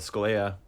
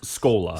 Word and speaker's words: Schola: way to the of scalia is that how you pronounce that word it's scola school i'll let you